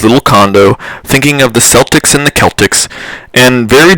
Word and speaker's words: Celtics: for the nba's boston celtics was at a downtown bar when he was asked the age-old question why did they pronounce it with a soft sea and not a hard c the agent a few